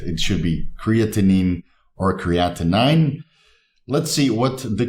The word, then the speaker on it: creatinine: Creatinine. Now, I've heard a lot of different people say different pronunciations for this word, anything between creatinine to creatine, which is of course not correct.